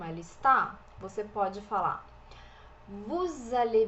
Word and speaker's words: vous allez: Vous allez, vous allez. O EZ aqui, o Z não é pronunciado e o E é fechadinho.